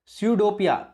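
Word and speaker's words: स्यूडोपोडिया: स्यूडोपिया, पी ये silent है इसमें, स्यूडोपिया और सीलिया।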